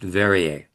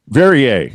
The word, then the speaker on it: Verier: Well, I think by the way, you've got name down great, but my last name is pronounced Verier. Verier. Okay, thank you. Rhymes with the the water.